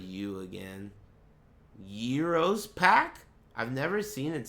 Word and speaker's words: gyro: Euros pack? I've never seen it spelled that way. Have you? Y-I-R-O-S? That must be a typo. It's pronounced Euro, but it's spelled gyro.